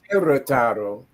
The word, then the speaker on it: Querétaro: Born December 13th, 1974 in Chicago, Illinois, of Mexican parents from Guerrataro, pronounced Querétaro, Mexico.